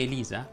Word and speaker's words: Elisa: poi andare a vederlo se il tuo nome elisa la e atona è per forza chiusa ugualmente se ti chiami